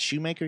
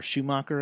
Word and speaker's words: Schumacher: have you watched that shoemaker yet yeah that our schumacher i guess yeah is the correct way to say it i did you isn't